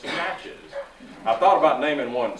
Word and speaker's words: Natchez: They mispronounce that. They say Natchez. It's Natchez.